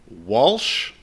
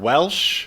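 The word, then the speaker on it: Whilce: i can uh i've heard it pronounced several times it's uh walsh portacio what yes walsh potassium i've also heard welsh or no it can't be well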